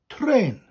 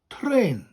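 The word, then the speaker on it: trên: one was train now train in welsh is very similar it's train train so you roll that up that's the first bit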